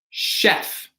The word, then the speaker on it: chef: So this is pronounced chef, right? So this is going to be an SH sound, right?